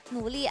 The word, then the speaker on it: Nuli: It is Weizhe for the top lane, Shaka for the jungle, Nuli as the mid laner.